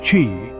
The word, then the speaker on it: qi: This is believed to balance the flow of energy or life force, known as qi, pronounced qi, which flows through pathways in the body.